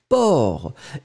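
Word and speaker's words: porc: Mais c'est ça, c'est que le C final n'est pas prononcé. Donc vraiment le mot c'est port.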